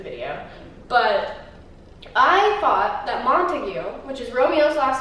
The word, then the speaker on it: Montague: about 3 minutes ago, I thought it was pronounced Montauk. And now I swear there is a reason why I pronounced it Montauk. I swear there's something called a Montauk. It's something that I watched or listened to or saw, but it's Montague.